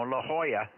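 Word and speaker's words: La Jolla: there in Southern California is Lala you know La Hoya that's one that really could get screwed up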